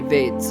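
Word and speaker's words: Vedas: She said, "They're not veers, they're vets." I was like, "Okay, I'll remember that." Well, of course, when we talk about the vets, they refer to the rainbow differently.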